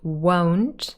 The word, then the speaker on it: won't: will not won't won't make sure this is an o sound won't so it doesn't sound like want like i want cake